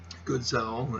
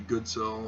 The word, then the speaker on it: Goodsell: So, yes, the Goodsell, as my dad wants it pronounced now. I don't really care what he says. It can be Goodsell or Gutsell or Godsell. Doesn't matter. Most people make the mistake